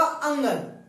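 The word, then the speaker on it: ङ: अब कई जगह इसे बोलते हैं अनाखाली या चूले मियां, तरह तरह के नाम बोलते हैं। इसको हमें कई नाम नहीं बोलना, इसका उच्चारण होगा अंगन।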